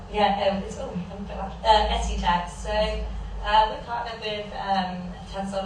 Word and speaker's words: Escotex: Have I pronounced it right? Yeah, Escotex.